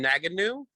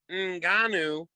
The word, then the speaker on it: Ngannou: He calls him Naganu, Nunu, Namana, cannot pronounce his name at all. At the end, the announcer, Mr. Buffer, says Francis Ngannou, and you see Rogan look at him and go, shit.